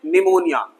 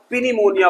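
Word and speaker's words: pneumonia: हाँ, ये वाला वर्ड, ये है निमोनिया। लेकिन कितनों को पता है कि ये पी साइलेंट है? लेकिन शुरू शुरू में जब आपने भी पढ़ा होगा तो इसे पक्का पिनिमोनिया पढ़ा होगा।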